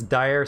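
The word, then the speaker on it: Daher: but now it's a company called dier d-a-h-e-r i think it's spelled and i think that's actually like a like i think it's dire cicada now but you mostly just see them called diers um but either way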